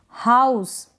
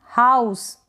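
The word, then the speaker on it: house: Next है ओ यू, ओ यू को हम आउ पढ़ रहे हैं, क्या पढ़ रहे हैं आउ, जैसे कि हाउस, हाउस, यहाँ पर ई आ रहा है, इसको हम प्रोनाउंस नहीं कर रहे हैं, लास्ट में है इसलिए।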